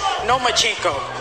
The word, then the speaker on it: Lomachenko: I think you said his name wrong. It's Nomachenko because he doesn't want to fight me.